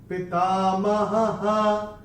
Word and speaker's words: पितामहः: दूसरे चरण में चरण की समाप्ति पे जो विसर्ग आ रहा है उसका उच्चारण केवल और केवल ह ही होगा, क्योंकि चरण की समाप्ति पे पितामहः ऐसे करके आएगा।